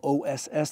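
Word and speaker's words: osu: the word o spelled o su as many of you know in the u in Japanese language is silent. And um so it's just pronounced o.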